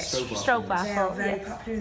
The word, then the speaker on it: stroopwafel: Not Stroopwafel? yet. Not yet. No. But we should have bring something, Kelly, Yes. for Everybody Next time. Stroopwafel, is that how you say it? Stroopwafel.